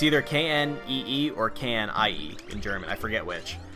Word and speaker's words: Knie: It's either K-N-E-E or K-N-I-E in German. I forget which. But I think it's I-E. But they pronounce it knie. So they actually pronounce the K.